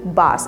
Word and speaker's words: bass: ये एक मछली का नाम है, फिश का, यानी कि बास, इसे हम बास प्रोनाउंस करते हैं। दूसरा चीज़ है, जैसे कई म्यूजिकल इंस्ट्रूमेंट्स है, गिटार या कई परकशन इंस्ट्रूमेंट्स, उसका कोई बेस हम चेक करते हैं ना, इसका बेस कितना है, ये सब हम बोलते हैं।